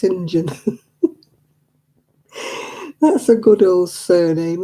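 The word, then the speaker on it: St John: that what about syndrome it's s-t-g-o-h-n sent john but it's not it's pronounced sinjin that's a good old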